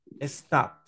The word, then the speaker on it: stopped: Stopped. Stop. Ajá. Stop. ¿Cuál Stop. sería el, este verbo termina en P, ¿verdad? Este verbo termina en P y cuando termina en P, la pronunciación es como una T, ¿verdad?